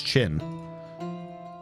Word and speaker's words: Chin: It's not Chan, it's Chin.